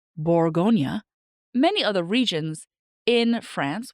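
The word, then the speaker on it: Bourgogne: Because Burgundy is the American sort of British way of saying the name. In France, it's Borgonia, right? They say Borggonia.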